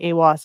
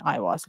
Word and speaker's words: Aiwass: and his name is Aiwass. Aiwass or Iwas. Pronounced two different, like you can pronounce it whatever way you want. People I've heard say Aiwass and Iwas.